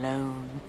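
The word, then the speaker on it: Lone: such a good name Tom loone rhymes with con phone bone not that rhyming is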